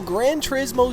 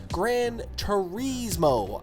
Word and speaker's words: Gran Turismo: Now, the biggest thing, I kept hearing Gran Turismo. I thought it was Gran Turismo, right? Not Turismo.